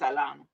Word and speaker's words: Atlanta: If you from here, you don't you don't pronounce it with a T. It's just Atlanta.